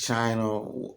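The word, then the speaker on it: Qin: of the seven states the state of chin it's spelled q-i-n you will see it in the text however it is pronounced chin and Chin ultimately became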